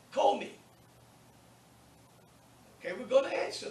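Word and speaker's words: κώμη: And I could say, kome. Okay, we're going to answer that. Kome. Look at the stress. That acute is on the omega. That's the syllable that you'll stress, wherever the accent mark is.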